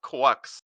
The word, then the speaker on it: GQuuuuuuX: They're like I think it's called it's pronounced quucks.